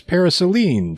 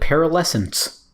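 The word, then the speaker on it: Paraselene: those are pretty neat so that's how you pronounce that I've always called it para lessons but that's what I call it okay some other options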